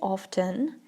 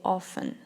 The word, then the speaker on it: often: some people say often some people say often now I myself sometimes say often and sometimes sometimes I say often uh the the reason for this is because both pronunciations are acceptable so you can either say often you can say often as well it's just up to you the one that you like more for a really long